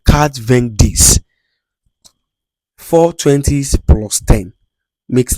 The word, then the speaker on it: quatre-vingt-dix: So, in in 90 in French, what you're going to say is that quatre-vingt-dix. You know, 80 is quatre-vingt. That is four 20s, abi?